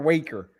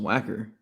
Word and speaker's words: Wacker: Is it Wacker or Waker? I think it's Wacker. I mean, it looks pretty clearly pronounced Wacker. Mm-hmm. There's two consonants in there between the two vowels.